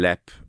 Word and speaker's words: Leap: I'm going to Connley's in Lep. Um, have you been known in Connley's and Lep? What's that? It's exactly No, the LEP is spelled leap.